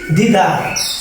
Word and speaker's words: দ্বিধা: এরকমভাবে কি দ্বিধা সাইলেন্ট, বিশ্ব দ্বিত্ব উচ্চারিত হয়েছে, বিশ্বাস দ্বিত্ব উচ্চারিত হয়েছে, সমন্বিত দ্বিত্ব উচ্চারিত হয়েছে, মেম্বার শব্দের ক্ষেত্রে বজায় গেল, গুরুত্ব দ্বিত্ব উচ্চারিত হয়েছে।